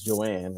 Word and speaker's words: Johan: So my wife's name is Joanne, right? And it's spelled the J O H A N. The H is silent.